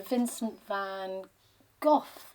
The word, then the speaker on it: Vincent van Gogh: at his work so vincent van gogh is how we usually pronounce his name in this country and was a wonderful